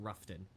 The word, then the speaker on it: Rutherford: Also, speaking of it's spelled Rutherford, but they pronounce it Ruffton.